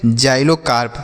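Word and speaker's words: xylocarp: जाइलोकार्प पढ़ेंगे। एक्स वाई से पढ़ेंगे जाई। क्या पढ़ेंगे? जाई। एल ओ से पढ़ेंगे लो और सी ए आर पी को हम पढ़ेंगे कार्प। तो लिखा गया है जाइलोकार्प।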